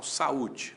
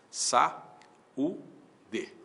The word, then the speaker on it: saúde: Então, saúde, qual é a separação silábica de saúde? Sa u de ou a para um lado, o u pro outro.